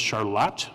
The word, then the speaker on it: Charlotte: Ben is from Charlotte, which when I first came here, it looked like Charlotte to me, but it's pronounced Charlotte in Michigan.